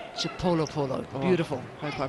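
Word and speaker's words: Chipolopolo: an answer actually to how you pronounce the Zambian team's nickname that's from uh Queen mu mu from the queen on Twitter the Zambian team is chipo Polo chipo Polo beautiful hope I pronounced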